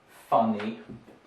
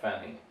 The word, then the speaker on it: funny: Quite a common one for Russians who might mispronounce words like money or funny. Those are not manny and not fanny.